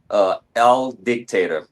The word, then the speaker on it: Aldiyktatur: Aldiyktatur, almost like owl, like the bird, dictator.